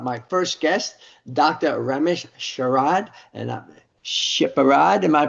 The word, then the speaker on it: Sepehrrad: Ramsh Sherad and Sheperd. Am I pronouncing that correctly? Dr. Separ thank you.